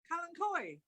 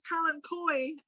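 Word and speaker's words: Kalanchoe: Kalankoi.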